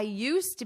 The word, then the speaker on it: used to: Notice my pronunciation. You don't hear this D at all.